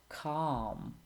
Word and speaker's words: calm: Silent L. Salmon, calm, half, would, should, could, talk, walk, and others.